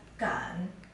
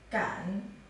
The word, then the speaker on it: 敢: This character is pronounced as Gan. Gan.